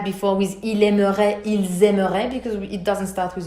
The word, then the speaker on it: aimeraient: Ils aimeraient. So, je, tu, il, and il plural, same pronunciation.